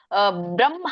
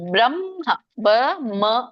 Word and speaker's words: ಬ್ರಹ್ಮ: ಹೇಳುವಾಗ ಹ ಉಚ್ಚಾರಣೆ ಮಾಡಬೇಕು ಈಗ ನೋಡಿ ಬ್ರಹ್ಮ ಅಂತ ಹೇಳಿ ಬ್ರಹ್ಮ ಬ್ರ ಮ ಬ್ರಮ ಮೊದಲು ಮ ಬರಬೇಕು ಬ್ರಹ್ಮ ಬ್ರಹ್ಮ ಅಂತ ಹೇಳಿ